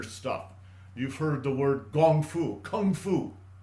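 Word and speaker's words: 功夫: You've heard the word Gong Fu, Kung Fu. Kung Fu is the Cantonese pronunciation of the Mandarin Gong Fu.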